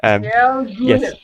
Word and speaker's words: Dalgona: The Dalgona coffee. Yes, the Dalgona coffee. Yes, indeed. Dalgona. Yes. Do you know anything about Dalgona coffee?